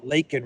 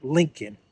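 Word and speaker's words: Laken: made was was when he referred to uh Lake and Riley as Lincoln Riley so Marjorie Taylor green was was in uh in attendance and she was saying say her name say her name uh lakol Riley and Biden was like link Riley which just shows that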